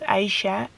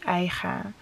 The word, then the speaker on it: Aicha: My name is both pronounced as Aisha and Aicha. I saw a lot of comments who were complaining about how Selma is pronouncing my name. But my Dutch father gave me my name and he pronounces it as Aicha. And my mom, like from my Algerian roots, of course it's Aisha.